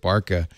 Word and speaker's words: BRCA: the if the uh I've been told you don't pronounce that burka you pronounce it Barka UHA yeah well it's